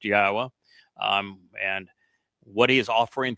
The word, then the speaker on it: Yahweh: And it's all for you to learn who Yahweh is, why we know that his name is pronounced Yahweh, and what he is offering through his Bereth